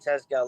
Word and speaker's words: Tezgel: Tell us about this 20-year-old you've got at Crewe, Emre Tazgirl. Is it Tazgirl? Is that how you pronounce it? Nailed it. Yeah, Emre Tezgel.